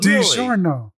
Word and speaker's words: DiGiorno: DiGiorno. I mean, I might have been pronouncing it slightly different, but DiGiorno is definitely not how...